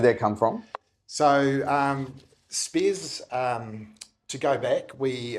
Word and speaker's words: Speirs: Yeah, it's it's Spears Finance. Okay. And where did that come from? So, um, Spears, um, to go back, we are originally a